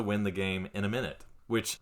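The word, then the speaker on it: Minit: Steam it's a little Indie Style game called minute mhm and I'll spell that cuz it's not how you would expect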